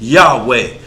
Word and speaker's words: Yahweh: the wrong name and thou pronunciated my name wrong it's it's Yahweh not yeah and since you didn't